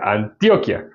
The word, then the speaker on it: Antioquia: Antioquia ya es una palabra eh grave, no aguda, sino grave. Y pues por consiguiente no tiene tilde, pero aquí sí tiene Antioquía, se escribe igual.